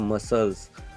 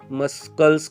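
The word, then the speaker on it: muscles: मसल्स, मस्कल्स या तो फिर मस्काल्स, ऐसे कुछ तो भी आप बोलोगे, लेकिन नहीं, यहाँ पे सी का प्रोनाउंसिएशन करना नहीं।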